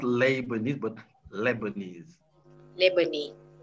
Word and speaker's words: Lebanese: neighbor name okay not label this but lebanese lebanese not labor not labor but the stress is